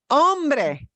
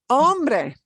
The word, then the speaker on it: hombre: the word is Ambre if you get your vowels right you'll always pronounce this hombre hombre those two words are